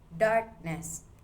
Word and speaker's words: darkness: Example number three, darkness. The stress stays on dark.